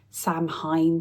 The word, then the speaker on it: Samhain: A lot of people don't know how to say this. Samhain, some people say. I say Samhain. I don't know if that's right, but that's how I say it.